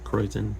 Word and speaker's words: krausen: Nice krausen on the top there. Kreuzen, I suppose is correct pronunciation.